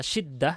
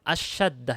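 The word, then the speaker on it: الشدّة: Saya baca syiddah, salah. Bukan syiddah ya. Karena kebiasaan dengar mungkin bahasa amiyah ya, jadi salah. Asyaddah yang benar.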